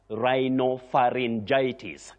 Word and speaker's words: rhinopharyngitis: Rhinopharyngitis, rhinopharyngitis. That is the way to pronounce it.